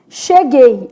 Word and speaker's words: cheguei: Cheguei. Olha o que vai acontecer com cheguei. Som de X, isso aqui é um dígrafo, né? Che. O U não é pronunciado. Gay.